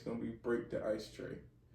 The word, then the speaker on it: Tré: It's gonna be Break the Ice Tray, and the way how you spell tray is TRE, no Y, none of that.